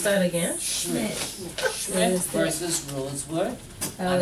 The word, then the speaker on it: Schmidt: Schmidt. Yeah. Pronounce that again. Schmidt.